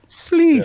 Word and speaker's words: Schleich: and Marcin Schleich, if I'm pronouncing that right. sleesh. Schleich is great. Sleesh or Sleesh. Yes, you, Brian Nadeau, Sleesh.